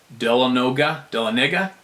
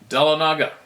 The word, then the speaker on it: Dahlonega: I was trout fishing on the upper reaches of Dix Creek, north of Dahlonega. Oh, when you pronounce it, Dahlonega, Georgia. North of Dahlonega, Georgia.